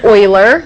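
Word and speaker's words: Euler: is named e because the man who discovered this number was named Oiler which is spelled e u l e r so this is Oiler number so we call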